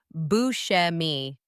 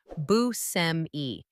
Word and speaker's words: Buscemi: In Italian, it should be said, BMI with an emphasis on the middle syllable. However, Bushi revealed that he grew up pronouncing it as Busme, which became the version most audiences know today.